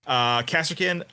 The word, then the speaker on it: Kasrkin: Kasrkin, we just need to work on Rhys's Legionnaires.